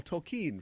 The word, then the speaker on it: Tolkien: in the movie when toll Keane goes and talks with the philology professor and he's like Oh tokine from the German Tolkien and it's like he said it right there yes it's definitely one